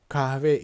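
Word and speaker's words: kahve: me same Yoram choke cava each me savior normal we don't pronounce hu no in daily dialogues we just wreck the same chocolate cafe as if there's no H letter okay Djokovic me same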